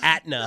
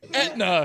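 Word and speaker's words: Aetna: All right, sorry, you work for Atna. No. Etna. It's Etna.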